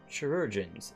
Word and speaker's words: chirurgeons: It concerns the chirurgeons. It's like they're surgeons, but instead they're chirurgeons. You can pronounce it Kai. Oh, okay. Rugens.